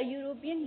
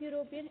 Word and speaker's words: European: जब हम European बोलेंगे तो वो य की sound देगा, जो कि एक consonant sound है, vowel sound नहीं है.